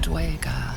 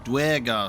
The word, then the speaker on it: Duergar: You see a frothing Duergar, axe drawn, crazed by bloodlust, bearing down on a young Myconid.